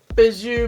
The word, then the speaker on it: Bijou: to see how I like it it's called bazoo beauty box see that's how you pronounce it it's fed bij oh you and